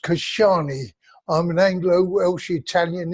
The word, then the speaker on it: Casciani: right well the name is actually pronounced Kashani I'm an Anglo Welsh